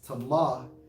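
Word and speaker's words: טמא: And for polluted, Strong's H2930 pronounced as tamah, and it means to be unclean, become impure.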